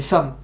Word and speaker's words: សូម: Ah, c'est Swam. Somme. Ou Swam. C'est Somme, je crois. La prononciation. ចាស់ទេ អត់ទេ សូម Somme, ouais, c'est ça.